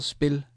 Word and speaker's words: spiller: So so again, for the end here, you don't pronounce the R, but the E changes, this E changes its, E in Danish, E changes its sound in the end.